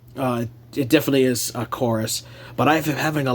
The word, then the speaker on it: Chorus: is weird though that it's spelled with a V but it's actually pronounced chorus with a u so I don't know